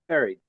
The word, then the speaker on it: buried: You know, like the first part of the word is almost like a berry like in a strawberry or a blueberry. Uh exactly. B. It's it's it's it's pronounced as if it were B E R R Y with with the rest of it you like indicating past tense.